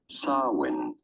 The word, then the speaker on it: Samhain: You don't want to Samhain. stress on the first syllable, the sa syllable. The M Samhain. in the middle, well, is kind of silent. Do not worry about it. Just say Samhain.